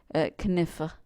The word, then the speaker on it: knife: Because it was pronounced that way. Kniffe, right? Knecht. So you can see that all of those consonants were pronounced.